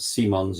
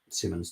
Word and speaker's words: Simons: Nance is too sh apparently it's pronounced Simons yeah I know but Simmons to me sucker Square to Gabby